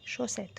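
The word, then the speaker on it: chaussettes: شراب اللي هو بيبقى جوز، يعني الشرابين الاتنين، فبنقولها لي شوسات، ما بنقولش ان شوسات. تمام. شوسات بتتنطق كده شوسات، نطقها سهل جدا شوسات.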